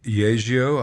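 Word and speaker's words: Yageo: Uh, right now I'm using mostly Yio. I guess that's how it's pronounced.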